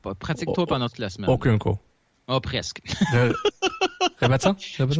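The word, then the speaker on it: Okonkwo: Okunko. Voilà. C'est celui qui a aucune idée comment le prononcer.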